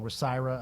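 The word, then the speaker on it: WSIRA: the uh with side what I call rasira other people pronounce it differently but it's the surcharge w-s-i-r-a that Missouri American Water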